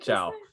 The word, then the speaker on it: Chow: Chow. like as in like chow mein, or like chow mein or clam chowder. Clam chowder. Okay, clam chowder.